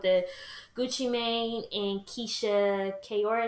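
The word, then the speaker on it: Ka'oir: Gucci Mane and Keisha Kayor, is that his last name? Yeah, that's how you say it.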